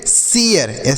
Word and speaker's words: share: शेयर क्यों पढ़ रहे हैं, क्योंकि ए के बाद आर ई है, तो ए के बाद अगर आर ई रहता है तो ए का उच्चारण ए के रूप में, ए या ए, मतलब